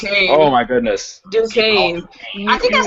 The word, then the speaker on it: Duquesne: It's actually Duquesne is how you pronounce it. Oh, my goodness. Duquesne.